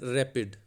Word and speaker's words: RAPD: Dear students, today we will discuss random amplified polymorphic DNA RAPD, pronounced as rapid.